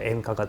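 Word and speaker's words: 演歌: 비슷하게 그거를 노래로 하는게 연가라고 해 가지고 이게 일본식으로 발음을 하면 엔카가 돼요.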